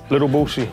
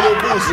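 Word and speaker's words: Lil Boosie: Little Boosie.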